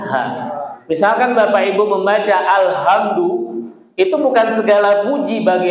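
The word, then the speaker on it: الحمد: Alhamdu yang betul alhamdu bukan alhamdu.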